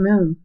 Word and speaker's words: mu: word month refers to Moon I'm almost done here if many of you know music can be broken down into two words mu pronounced moo is the 12th letter